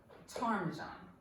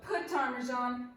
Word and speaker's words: ptarmigan: of it called Rock ptarmigan that's right it's not put timers on the P is silent so it's rock tarnish